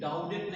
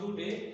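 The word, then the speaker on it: Daudet: Alfonso डूडे, डाउडेट नहीं बोलोगे, क्या है? डूडे बोलोगे।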